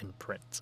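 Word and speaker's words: IMPRNT: Yeah, it's um I think it's like spelled like I M P R N T Studios like imprint.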